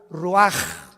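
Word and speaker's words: רוח: Roach así como suena se pronuncia la c en hebreo como J ruaj se le só y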